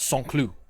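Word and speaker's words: Saint-Cloud: in anglican anglicanized english but it's pronounced song clue it's about 10 kilometers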